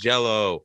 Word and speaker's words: Jelly: green jello or jelly it's spelled jelly but pronounced jello yes well what i've